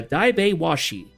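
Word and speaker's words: Daiba-washi: Wind elemental pronounced uh die washi.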